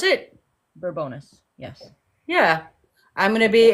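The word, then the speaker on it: Bourbonnais: Is that how you pronounce it? Burbonus.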